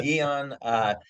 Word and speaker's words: Aeon: So Eon Oh, had, Eon. yeah, It's spelled a little different. Yeah, Eon.